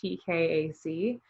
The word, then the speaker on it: Tkac: So I'm Tkac, like thumbtack. But the K is silent. It's Tkac.